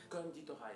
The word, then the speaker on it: Konditorei: Konditorei, avec un accent sur le con.